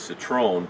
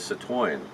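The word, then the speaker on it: Citroën: to pronounce that is Citrone but really the correct way it's a French car so the correct way to pronounce it is Sat wine so well that's all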